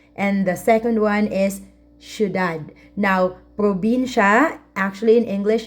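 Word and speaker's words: ciudad: a city which is sudad actually this is from Spanish language thead and we spell it like this we say sudad okay just like sh all right now at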